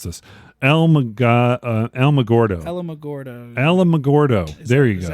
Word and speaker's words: Alamogordo: Okay, I still don't know how to pronounce this. Alamogordo. Alamogordo. Alamogordo. There you go. I don't know. I just reeled Alamogordo.